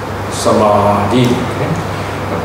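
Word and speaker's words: samādhi: For example, Samadhi, the second letter, you see that the A has always called a metron. Metron means a line above the vowel. It's always a vowel. And gives it two counts, a long sound. In other words, one, two, and then Samadhi.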